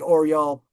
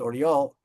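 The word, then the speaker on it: Orel: Um most of the prisoners in the Oral prison, the city is pronounced Oriel, most of the government, uh the prisoners were evacuated to the east.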